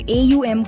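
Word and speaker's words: ॐ: करने के लिए आराम से बैठें, गहरी सांस लें और AUM का उच्चारण करें। अ उ अम की गूंज को महसूस करें।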